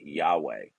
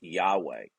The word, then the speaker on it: Yahweh: the form of 4 consonants, which some people pronounce as Yahweh. Okay, we've lost in history what the exact pronunciation is, but it's pronounced Yahweh.